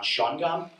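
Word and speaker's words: Shawangunk: I know how to pronounce the name of the town, Shawangam.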